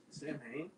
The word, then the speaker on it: Samhain: it's technically it's pronounced Samhain, and it's just really funny because I'm a